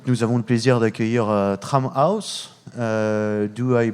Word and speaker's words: Tramhaus: Et oui, donc nous avons le plaisir d'accueillir Tramhouse. Do I pronounce it correctly? I don't know. Yes, you do. Donc deux membres de Tramhouse, donc Lucas and Misha.